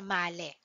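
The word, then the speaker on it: Malé: capital of Maldives Okay so its capital is malale Okay it is being pronounced as male Okay so to proceed its tagline is always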